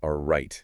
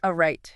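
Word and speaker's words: arete: Okay, so the absolute core, the heart of it, is learning to live with a right. A right. How do you spell that?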